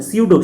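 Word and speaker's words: pseudo: सीडो, सीडो मतलब झूठा, P silent है, पी साइलेंट है।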